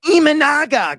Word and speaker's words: Imanaga: Imanaga? Imanaga.